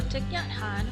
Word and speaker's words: Thích Nhất Hạnh: to know who exactly the author is so tatan which is the closest approximation to Vietnamese total pronunciation is also known as Tay or Thai